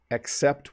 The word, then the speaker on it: except: the circles are orange except one. So notice I pronounce that with a softened E sound, a little bit of an E instead of an A.